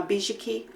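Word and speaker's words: Bizhiki: Uh Bishaki.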